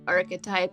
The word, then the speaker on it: archetype: It does look like it would be pronounced archetype, but no, it's archetype.